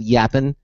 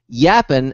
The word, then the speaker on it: Yappn: uh Our Guest is from a company called yappen y a PN I hope I'm pronouncing that correctly according to them yappen is a realtime multi- lingual company that amplifies